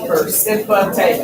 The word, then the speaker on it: precipitate: PERCIPITATE. Precipitate.